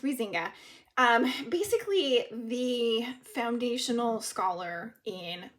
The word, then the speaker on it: Huizinga: So we start by reading Huizinga, and it's pronounced Huizinga.